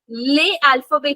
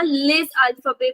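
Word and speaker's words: les alphabets: ले अल्फाबे की जगह लेज अल्फाबे बोला है.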